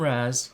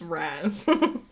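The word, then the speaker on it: Ra's: like it's R they it doesn't even look like it should be pronounced Raz like looking at the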